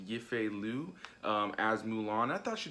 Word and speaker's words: Yifei Liu: This time around, you have, I believe her name is pronounced Yifei Liu, as Mulan.